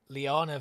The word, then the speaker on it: liana: but I was um I was pronouncing Liana Vines wrong for probably about six months I was calling them lava Vines and I was like